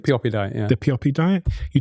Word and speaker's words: Pioppi: And in much of your work, and I think in this book, I can't actually pronounce the word, Pioppi Diet? Pioppi Diet, yeah.